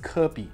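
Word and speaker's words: 科比: It's pronounced Kirby, and that's how you spell it too.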